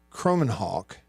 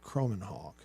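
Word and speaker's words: Kromenhoek: there it is Luke it's not J it's Luke croman Hawk I believe is the pronunciation that I've been told Luke croman Hawk and uh let's see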